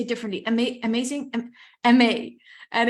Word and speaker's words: Aimee: It's pronounced like the word amazing, and it's like the first part, Aimee.